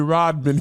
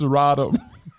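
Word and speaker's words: Rodham: what did I do you said Hillary Rodman Clinton it's rodom oh Hillary was getting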